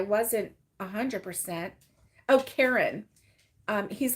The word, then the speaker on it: Caron: a hundred percent oh Karen um he's like you know people pronounce it Caron or Caron or something like that but it's Karen like the girl's name so Karen simply soft